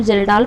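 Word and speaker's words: Kjeldahl: Next question, the जर्डाल method is यूज to determine, इसको जर्डाल पढ़ते हैं, के साइलेंट है।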